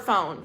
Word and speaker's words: phone: Look at the word phone in English. It makes the f sound, but they put ph.